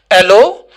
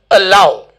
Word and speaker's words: allow: and this is allow some of us pronounce it as hello or or something else i cannot pronounce like that but it is allow allow a love we